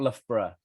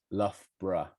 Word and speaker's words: Loughborough: Okay, well, you can pronounce Loughborough however you like. However, the easiest way to pronounce it is actually Loughborough. Okay, not Loughborough. Loughborough is perhaps the easiest way of pronouncing it.